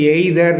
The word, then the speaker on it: either: can't do it Hyder இதை ப்ரொனௌன்சியேஷன் கொஞ்சம் கத்துக்கிடுவோம் இ ஐ ditch E ஆர் இதை நாம அடிக்கடி சொல்றது எய்தர் எய்தர்னே சொல்லுவோம் அந்த ஆற உச்சரிப்போம் நோ நோ ஐம் ஐ